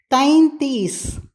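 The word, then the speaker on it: तैंतीस: 33 33 தைந்தீஸ் தைந்தீஸ். தை போட்டு அதில் புள்ளி வைக்க மறக்கக்கூடாது. தைந்தீஸ் என்று அப்பொழுதுதான் உச்சரிக்க முடியும். தைந்தீஸ்.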